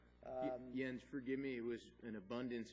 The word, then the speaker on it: Jens: yo Andy my name is Jen my first name is spelled Jake ENS the J is pronounced as